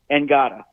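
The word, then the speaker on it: Ngata: it's spelled the same as helloti NADA it's pronounced angada and Gaga yeah and I remember uh liking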